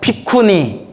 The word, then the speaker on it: 비구니: 비쿠니. 그래서 비쿠, 삐꾸 이러면 안 돼요. 삐꾸 아니에요. 비쿠가 이제 비구라는 발음으로 한자로 표기가 되는데 얻어먹는 자, 걸식하는 자란 뜻이에요.